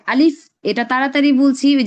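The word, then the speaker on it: ب: বার উচ্চারণ একদম সহজ। এই বার উচ্চারণ হয় হচ্ছে গিয়ে দুই ঠোঁট থেকে উচ্চারণ হয়।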